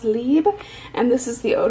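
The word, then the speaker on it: Libre: octoly first off i got the ysl it's pronounced lib and this is the eau de toilette i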